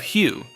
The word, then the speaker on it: HU: members perform daily spiritual exercises, often involving the chanting of Hugh, pronounced like the word Hugh, which they claim opens doorways to these other worldly realms.